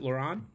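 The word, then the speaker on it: Laurent: name okay yeah and do we pronounce it lauron oh yes yes perfect you pronounced perfectly yes yes yes Laur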